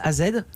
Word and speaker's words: Az: Il s'appelle Az, AZ. C'est ça. Comment on dit AZ, Az. Ah, d'accord. mais ça s'écrit AZ.